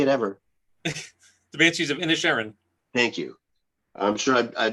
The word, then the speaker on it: Inisherin: The Banshees of Inisherin. Thank you. I'm sure I butchered it earlier.